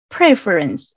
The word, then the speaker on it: preference: And the second word is preference. And we need to pay attention to the stress on the first syllable, not previous slide to preference, not in that way.